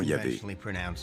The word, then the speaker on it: Yahvé: Dans l'un des récits, Abraham appelle Dieu par son nom propre, qu'on prononce traditionnellement Yahvé.